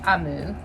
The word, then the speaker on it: Omu: is spelled om you and I know it's pronounced I move because there's a little note inside that tells